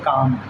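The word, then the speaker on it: calm: हमने देखा जैसे यहां पर लिखा है सी ए एल एम तो इसका मतलब यह नहीं कि हम इसे काल में पढ़ेंगे। हम इसे पढ़ेंगे काम क्योंकि एल जो होता है वो हमारा साइलेंट होता है और क्योंकि हमारी जो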